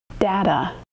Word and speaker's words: data: Data. Data has two syllables. Da-da. Did you notice that the second syllable doesn't sound like t-t, even though it's spelled with a t? It sounds like d.